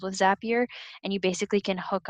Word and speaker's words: Zapier: they're amazing it spelled Z API er zapier rhymes with happier they are a software